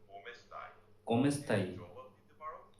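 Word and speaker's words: Come stai: অবশ্যই ইটালিয়ানে তুমি কেমন আছো বলার সবচেয়ে সাধারণ উপায় হলো কোমেস্তাই। উচ্চারণ কোমেস্তাই।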